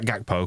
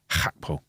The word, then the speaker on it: Gakpo: Yeah, can we say Gakpo, because that's how we pronounce a G in this country. But the native pronunciation is Hakpo.